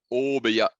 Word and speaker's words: Obeya: Donc, juste pour rappel, alors j'essaie de faire la prononciation japonaise correcte. Donc, je crois que correctement, on dit Obeya. Ouais. Donc avec un O un peu long, Obeya, c'est la salle,